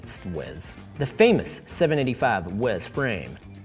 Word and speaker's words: Huez: I'm gonna go with Huez because it's named after the Alpe d'Huez, so I'm just going to say it's Huez.